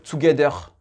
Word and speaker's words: together: Donc ici, TO, ici, ça ne se dit pas tout, c'est t, t. C'est vraiment court dans l'anglais américain.